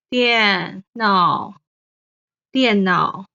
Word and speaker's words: 電腦: 电脑电脑 Finally, the last one, the movie, 电影 Sam, 电 is the fourth tone.